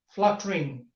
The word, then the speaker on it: fluttering: Fluttering. Sometimes our learners think that there are three syllables in the word fluttering. Fluttering. Actually, there are only two syllables, fluttering, because each line